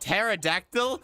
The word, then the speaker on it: pterodactyl: I love when the letter P is silent. Like, oh my god, pterodactyl broke.